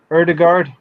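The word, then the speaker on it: Ødegaard: it uh name correctly erdegaard uh the god it's actually an a with a circle on the top that's the or more sound more letters in the alphabet right about another three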